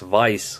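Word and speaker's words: Weiß: tuesday for a small vice sports event like i'm trying not to call it way sports events anymore because it's actually pronounced vice like in german and uh i can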